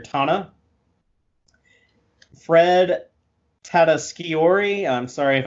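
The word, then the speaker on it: T'Ana: wigman as dr tana i thought it was tiana but apparently you pronounce it dr tana fred tataskiori i'm sorry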